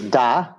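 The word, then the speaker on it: да: Yes is da.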